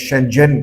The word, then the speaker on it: Shenzhen: बड़ा इंपोर्टेंट शहर है जिसको चाइनीज शनजन करके प्रोनाउंस करते हैं और यह हांगकांग का